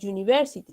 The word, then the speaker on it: university: Pero tenemos la palabra university, que si bien empieza con vocal, su sonido no es de vocal, sino de consonante, como la palabra you, ¿no?